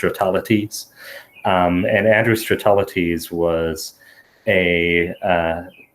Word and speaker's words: Stratelates: I'm sure definitely so the way that I usually pronounce it and and I like it because it rhymes with my real name is is realities and address realities was